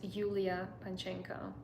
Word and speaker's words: Yulia Panchenko: My name is Yulia. So it's like Julia but with Y. So you pronounce it as Yulia Panchenko.